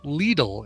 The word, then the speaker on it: Lidl: some fact checking himself it is pronounced lethal in germany please go to the